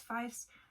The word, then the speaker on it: Pfieffs: It's pfieffs everywhere. That is how you say it, like the instrument of a fife. It's pfieffs.